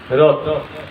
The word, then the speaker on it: হ্রদ: ঠিক আছে, হ্রদ। হ্রদ, হটা সাইলেন্ট থাকবে, হটা সাইলেন্ট থাকবে। হ্রদ।